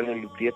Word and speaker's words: Les Luthiers: se llama Les Luthiers, que se pronuncia Les Luthiers, pero ellos son unos concertistas que enfocan el 100% de su talento al humor.